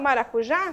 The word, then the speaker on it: maracujá: exemplo nós temos maracujá quando falo maracujá sílaba tônica da palavra moxi tona na última sílaba prosódica e nós vamos